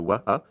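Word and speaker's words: وأن: So wa, and then here we don't say wa, so that would have been wan, but because there's a hamza, it's wa an. You actually pronounce the A separately.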